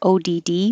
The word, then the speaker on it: odd: This could be spelled with an AW, meaning amazed, or ODD, meaning unusual, but they sound exactly the same.